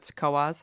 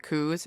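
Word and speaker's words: Coös: on top the two dots oh okay so coas so people who aren't from the area pronounce it CZ and you're like that's adorable you're wrong you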